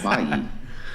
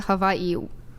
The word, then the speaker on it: Hawaii: supposed to pronounce it Hawaii that is true didn't a comedian make a joke about the W in the Hawaiian language is a v kind of mhm mhm Kawaii Hawaii